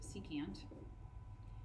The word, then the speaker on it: secant: okay on that same note SEC which is pronounced secant is reciprocal with the cosine value so if